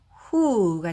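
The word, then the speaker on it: who: 그런데 이렇게 5가 왔을 경우에는 반대로 w가 소리 나지 않고 h만 발음을 하시면 되겠습니다. 대부분 그렇게 생각하시면 돼요. 자, 그래서 여기서 W는 묵음이고 H만 발음을 해서 H의 소리는 네, 크라고 소리가 나죠. 히 소리. 거기에 우 소리 붙이면 네, 후가 되겠죠.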